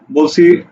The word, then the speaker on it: বাংলা: যেমন শব্দ হলো বাংলা এই বাংলার উচ্চারণ কি হবে দেখো বাঙ অক্ষর কয়টা অক্ষর হচ্ছে দুইটা বাঙ লা তাহলে দেখো বাঙ ল আকারে লা বাঙ লা বুঝা গেছে এইভাবে আমরা